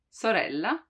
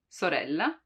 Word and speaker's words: sorella: the most common one it's called soft one and it's when the letter is at the beginning of the word like in sister sorella sorella you see it's the same sister sorella soft one while there's also